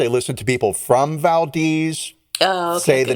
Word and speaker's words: Valdez: happen um there's a you just said Valdez I did it's Valdes it's totally valz it is Valdes I've listened to podcast I listen to people from Valdes the name of their